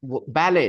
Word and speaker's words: ballet: later uh see um ballet not ballad T is silent okay English is not